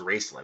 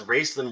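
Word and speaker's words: Raistlin: wrestling her raceland's apprentice i think it's pronounced racelyn actually heartborn so not entirely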